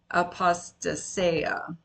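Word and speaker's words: ἀποστασία: Now, I want to point out that the word there for rebellion is the word apostasia. I think that's how you pronounce it in Greek.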